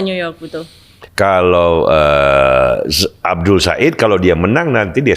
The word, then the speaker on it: Abdul El-Sayed: Abdul Said itu kan cuma cara penulisan kan bacanya Abdul Said itu bisa bagus banget.